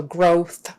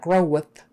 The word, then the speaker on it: growth: growth growth growth growth not grow with grow with we're just going to do growth growth growth it's almost like the debut is not really there but kind of growth make sure you get your R make sure you get your th and not an F we don't want growth